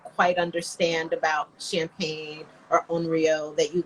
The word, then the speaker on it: Henriot: it's angry right unreal it's not period or henrietta it's just oreo so that's one and just tell me uh